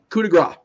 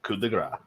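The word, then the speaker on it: coup de grâce: Coup de grace, or coup de grace, however the hell Gravy says it this week. Josh. Coup de grace. Maddie. And it is coup de grace.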